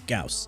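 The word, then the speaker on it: Gauss: right here we are at number seven with gaus yes that's how you pronounce it not Gau it's gaus he is speed not faster than Vault or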